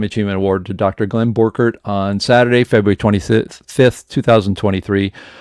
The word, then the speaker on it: Borchardt: it it's all ready you know how to pronounce my name Glenn borkert yeah how do people say that there we go how do they say that yeah okay so let me present this so so uh that's how we say in the midwest if you go to Germany and you say board chart yeah board chart I